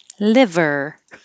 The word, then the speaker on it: liver: and we started with liver liver the vowel is e so if your tongue is too high it will sound like lever e and this is